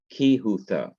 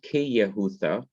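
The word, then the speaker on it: כיהודה: and as judah is ki hutha not ke yahutha but kihutha because this quiesces or becomes silent the simple shiva drops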